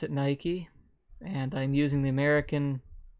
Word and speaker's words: Nike: Nike that's pronounced two different ways around the world but if you're in America you pronounce it Nike and I'm using the American Standard English so